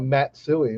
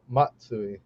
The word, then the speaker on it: Matsui: so you know even like people call it matsui when it's matsui you know right and you know a lot